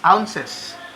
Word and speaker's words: ounce: Now, for the English system, we have the standard unit as ounces. Okay, that is. So, the unit of measure is OZ, and that is pronounced as ounce.